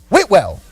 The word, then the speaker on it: Whitwell: Clay County defeats Whitwell. That's how you say it. You got to say it like a Southerner. 46-6. Whitwell.